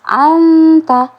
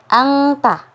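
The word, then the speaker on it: أنت: Jadi ketika kita ketika nun sukun bertemu dengan huruf ta, berarti dibacanya anta. Suara kita dikeluarkan dari rongga hidung, kemudian makhraj hurufnya itu langsung berada di huruf ta sehingga mengeluarkan bunyi anta seperti itu. Jadi jangan sampai angta, itu salah, karena ketika kita mengucapkan angta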